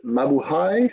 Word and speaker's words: mabuhay: When you read a Philippine word, you just cut it syllable by syllable.